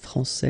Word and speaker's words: français: Okay, so we've got a little bit the same situation here as we had previously with français and française, because we don't pronounce the final S in français, and it's exactly the same thing.